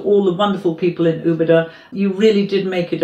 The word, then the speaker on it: Úbeda: Did I pronounce that right? Úbeda or Úbeda?